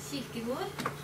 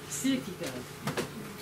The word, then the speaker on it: Kierkegaard: Kierkegaard. Kierkegaard.